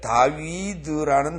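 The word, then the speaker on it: דָּוִד: V 발음 다 같이. 다위드. 다위드. 예. 다위드가 아니라 다위드. V가 아니라 V. 응. 아랫입술을 물어요. 응. 아니, 이빨로, 운이빨로. 다위. 예. 이렇게 우리 입술을 놔두고, 위에 입술을 놔두고, 이빨로만 물어요, 아랫입술을.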